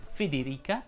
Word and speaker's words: Federica: Sei in buona compagnia, Davide, perché anche Federica ed Egidio hanno la I tonica, quindi tutte le loro E sono chiuse. Federica ed Egidio.